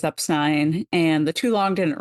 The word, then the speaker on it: Epstein: Fortune Lloyd because uh that's not how you say it it's Epstein and today you guys are going to get to hear if you haven't already our episode about exactly why it is upstein and the two long